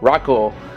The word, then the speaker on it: Raco: is the AMA Pro Rico or Rocco you know based on my poor pronunciation from Ford and Mike the actual Japanese pronunciation in the second one as seen from